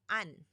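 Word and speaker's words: 안: So for example, it's an, an.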